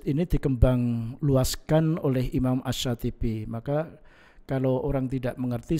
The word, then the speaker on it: Asy-Syatibi: Tulisannya Al-Syatibi, bacanya Asy-Syatibi. Gitu ya.